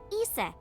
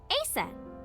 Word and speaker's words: Aset: but in ancient Egyptian, it's pronounced Isis. closer to Ise or Aset.